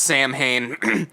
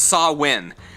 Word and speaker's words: Samhain: from the festival of sawin and it's spelled samhain if you wanted to look it up but it's not pronounced samhain it is pronounced saw win make sure you're looking